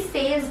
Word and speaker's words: says: You will pronounce this word as says, not says. Says और says में difference है. Says थोड़ा अजीब लगता है, but says is more accurate.